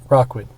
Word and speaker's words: Rockwood: support community programs in Rookwood Park, which is pretty damn cool. Rockwood. I thought I said it right that time. You said Rookwood. Rockwood. How is that so hard? It clearly says it.